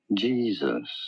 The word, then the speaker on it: Jesus: Jesus. You do want to stress on the first syllable. On the syllable.